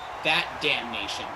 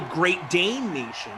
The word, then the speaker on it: Great Dane Nation: I was going to call it That Damn Nation, but I know I'm saying it wrong now. No, yeah, you're saying it like Who Dat Nation, like the Saints, but it's really Great Dane Nation.